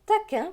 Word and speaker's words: taquin: taquin bien puni dans taquin vous voyez bien que le q u se prononce que donc taquin très bien